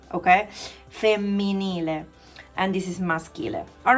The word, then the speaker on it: maschile: I made this scheme for you so that you will see on this side maschile. So we call masculine maschile. Don't pronounce maschile, okay? Because SCH is sk, okay?